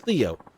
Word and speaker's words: Leo: venerable leo ayanokoji ayanokoji it's written with the kanji for lion to be sure but it's pronounced theo i wish you're impressed